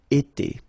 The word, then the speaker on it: été: itself every time, and it's pronounced like été. Été.